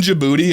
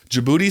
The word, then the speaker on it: Djibouti: are you telling your story how do you spell it dj if i type in djibouti and we get khalid we the best in